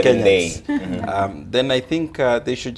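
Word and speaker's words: Ndii: Ndi or Ndei, seems pronunciation has been wrong. Yes, we've been saying it wrong. It's apparently Dr. Ndei.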